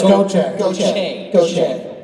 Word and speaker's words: Gaucher: Then the powers that be said it was Gaucher. And I still don't know what the right way is, but I'm gonna. It's Gaucher.